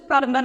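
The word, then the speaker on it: plumber: प्लम्बर अगर आप बोलते हैं तो ये गलत प्रोनाउंसिएशन है, कभी आप बी साइलेंट है, सो वी not pronounce the बी, इसलिए हम इसे प्लम्बर नहीं प्लम्बर बोलेंगे।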